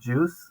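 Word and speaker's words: JUCE: these days are working on a framework called Juice. It's spelled Guse.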